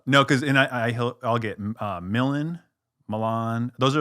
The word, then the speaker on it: Milan: Well, you say it like 99.9% of the world, which is, I guess, right. But the way my parents have always said it, or the way it's really pronounced, is Milan, because we're from an Eastern European country. Huh. So I guess for whatever reason, the pronunciation's Milan, but everybody says Milan, so I've just kind of adopted that.